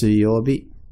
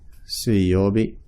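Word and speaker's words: 水曜日: Mizu is the Japanese word for water, but in this case you pronounce it Suiyobi. Suiyobi.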